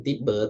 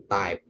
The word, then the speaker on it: type: Nah, itu type ya. Bukan tipe, tapi type.